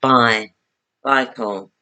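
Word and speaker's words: Baikal: some vehicle but tonight I looked it up how to say it is bye bye call yeah making one and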